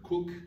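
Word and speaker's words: Coke: l influence des toilettes cook on écrit comme un boissons gazeuses mais que les britanniques selon leur sens inné de la prononciation le prénom ce coq juristes de jeu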